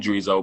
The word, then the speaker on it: Dreezo: It's spelled Dreezo, but it's Dreezo Okay.